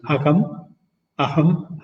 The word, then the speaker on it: aham: One is what is known as aham as they pronounce in Tamil, and puram.